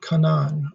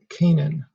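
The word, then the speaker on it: Canaan: and travels to the land of kanaan or kanan neither pronunciation is acceptable but he doesn't have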